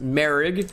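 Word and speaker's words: Moehrig: It looks like Morig, but it's pronounced Merrig.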